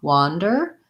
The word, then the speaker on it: wander: vowel sounds this time wah wander has the ah vowel looks like this in the dictionary so um i like to pair that with caught or law or thought i was caught wandering